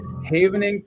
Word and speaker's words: havening: Havening, pronounced like haven, is a neuroscience-based touch therapy and rapidly re rewired brain builds resiliency and dencodes trauma.